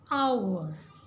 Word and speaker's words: hour: So here H is silent. So we pronounce it as hour.